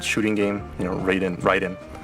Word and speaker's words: Raiden: It's actually Ryden. Uh-huh. Cuz you know, in Metal Gear from the very beginning there's voice acting, so they know it's Ryden. But most people when they see Ryden written, they think it's Raiden.